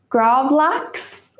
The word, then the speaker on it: gravlax: do you say that gravlax is how you say it in english it's actually a swedish word it's very strange to say it and with it like an english accent um but you know